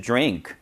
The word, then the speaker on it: drink: 그래서 cold to drink, cold to drink가 되었죠? Something cold to drink, 마실 것 뭔가. 그 다음에 drink, 절대 drink 아니죠? D 혹은 T 뒤에 R 발음이 나오면은 파찰 현상이라는 것이 일어나요.